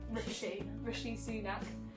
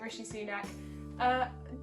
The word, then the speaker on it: Rishi Sunak: I'm going to say his name right, by Rishi Sunak. Yeah, specific comments that have been made by Rishi Sunak, genuinely like hurtful for people that have spent years and years training.